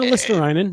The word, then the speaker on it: Luostarinen: I'm sure I got his last name wrong, but no, Luostarinen.